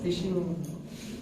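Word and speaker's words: phishing: फिशिंग इसकी spelling नहीं है, PH हो गए या FISH हो गए।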